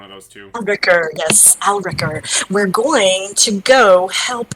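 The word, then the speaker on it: Alrekr: it alec here sorry atticure here is your pronunciation well here's your spelling yarl a-l-r-e-k-r al wrecker alec here one of those two ricker yes al ricker we're going to go help out y'all alright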